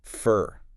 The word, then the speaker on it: for: It loses its O sound and shifts to the schwah, making it sound like fur, like the animal fur. Fur. So if I say I waited for an hour, I shouldn't pronounce it with that full long o sound, fo r.